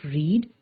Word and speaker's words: read: Read is another verb that does not change in spelling when converted to the past tense. However, the pronunciation of the verb changes. The past tense of read is read.